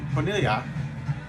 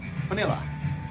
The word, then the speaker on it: Bonilla: Speaking of not knowing for sure, Jose Bonilla, did I pronounce that name right, Al? No. Oh well, I tried. Bonilla.